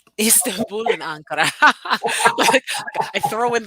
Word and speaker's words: Istanbul: I used to call it Istanbul, so I've been saying it wrong all along. Istanbul, Istanbul, Istanbul, and Ankara.